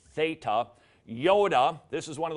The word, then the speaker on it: Theta: page just one time the Theta is a thth th sound pronounced Theta Yoda this is one